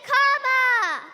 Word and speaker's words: Kamala: First you say comma like a comma in a sentence. Then you say la like la la la la la.